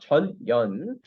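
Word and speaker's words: 전연: 네, 전현 발음 잘하세요. 전현입니다. 명확하게 해야 됩니다. 전현.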